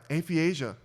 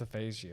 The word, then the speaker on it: aphasia: him so she's like damn and but yeah atheisia jobins that's what it is i think it's aphasia aphasia and when i said it wrong again aphiasia aphasia aphasia it's it's you know what brian